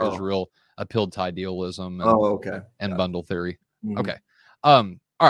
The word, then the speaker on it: bundle theory: heard of it, but is it bungle theory? Yeah. Where is bundle that? Theory. Bundle theory.